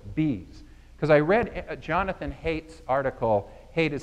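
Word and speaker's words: Haidt: I started exploring bees because I read Jonathan Hate's article hate is spelled h AI G HT I think he's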